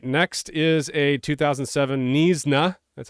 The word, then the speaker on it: Knysna: All right, next is a 2007 Knysna. That's how you pronounce this.